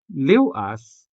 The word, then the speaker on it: liwas: So as for ew in liwas, it is indeed the final sound of the syllable liw, following the consonant letter L.